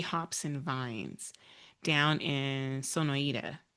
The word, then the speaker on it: Sonoita: But they are the owners of Arizona AZ Hops and Vines down in Sonoita. Did I pronounce that Sonoida, right? Sonoida. Sonoita. Okay.